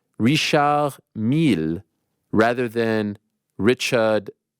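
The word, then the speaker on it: Richard Mille: that it is pronounced Rish M rather than Richard M oh Richard Millie yeah I think I think it's a French name yeah I'm probably just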